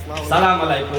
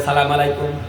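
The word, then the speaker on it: السلام عليكم: উচ্চারণটা শিখে ঠিক তারপরও রাস্তাঘাটে আইসা সে সালাম দেয় সালামু আলাইকুম এই মুসলমানের কি অবস্থা দেখেন মুসলমান শুদ্ধ করে সালাম দিতে জানে না অথচ দোকানপাটে মাসলা মাসায়েলের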